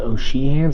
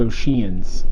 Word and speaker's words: O'Sheehan's: We were standing in lines at O'Sheehan's, which I always thought was funny that people call it O'Sheehan's, but that is actually how you say it. I thought it was O'Sheehan's.